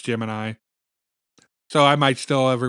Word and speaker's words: Gemini: Uh, I know NASA pronounced it Jiminy and I I grew up so many years calling it the Jiminy missions that I just now instinctively call Gemini Jiminy and people give me dirty looks for it.